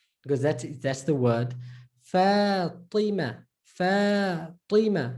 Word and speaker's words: Fatima: Fatima, Fatima. So fa, ti. Remember, curved tongue, same like T, but curve your tongue.